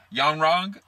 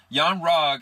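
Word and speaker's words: Yon-Rogg: his character his character's name oh my gosh pronounced young wrong young rogue and her kind of going back and forth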